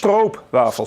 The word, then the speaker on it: stroopwafels: How do you pronounce it? I'm Dutch. Stroopwafels.